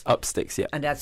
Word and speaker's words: Upstix: And it's Upsticks. Upsticks, yeah. And that's spelled Upstix.